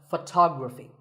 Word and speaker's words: photography: next word is photography we say photograph but photography so the first syllable becomes and the stress goes to the second syllable ography so photography in the same way